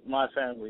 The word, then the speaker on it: MiFamLee: And did I pronounce that correctly? Yeah, that's correct. MiFamLee.